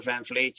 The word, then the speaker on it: van Vliet: my name van vliet phd or dr van fleet you'll you'll find my website and my google